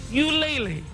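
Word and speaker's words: Ulele: family is now opening you lately that's how you pronounce it folks you lately we'll take you inside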